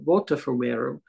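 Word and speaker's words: Botafumeiro: Fumeiras, and it's interestingly we now spell it with a B, but as you know, a B and a V in Spanish are very close, and it's much more Bota Fumeiro.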